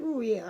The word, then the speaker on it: Ruhiel: But yeah, I said Ruhiel, I was right, I said it right.